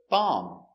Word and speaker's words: bomb: Example, bomb. Remember, no B, no bomb, just bomb.